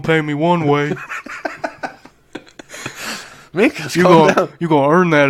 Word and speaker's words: Minkus: Does it rhyme with Stinkus? Yeah. Minkus, Stink. Yes, it does.